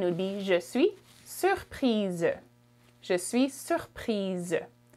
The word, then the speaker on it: surprise: For feminine, you would add an E at the end, and it would be je suis surprise. Je suis surprise. Z sound at the end.